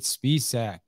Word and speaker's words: Spiessack: are with mr david spiessack i hope i even said your last name right i probably should ask you you nailed it you pronounced it better than my mom does i oh wow okay